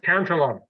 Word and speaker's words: Cantillon: But specifically in your latest macro letter, you mentioned who I've never heard of before, honestly, Richard Cantillon. Did I pronounce it correctly? Cantillon. Cantillon. Yeah.